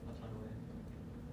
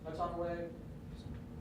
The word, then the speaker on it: Autonoe: Autonomy. Wait, you pronounce it. Autonoe is correct.